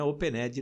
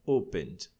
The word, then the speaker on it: opened: Você vai colocar o ED, mas só pronuncia o D. Opened. Tá? Não é opened, não. É opened.